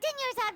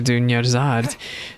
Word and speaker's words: Dunyarzad: She reminds me, the name reminds me because it rhymes. It reminds me of a character from The Legend of Heroes Trails in the Sky. Her name is Sherazad. Oh, I see co-op is turned off.